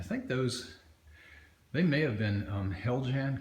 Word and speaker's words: Heljan: they may have been Heljan kits. I think that's how you pronounce it, H-E-L-J-A-N. Which it is, and I know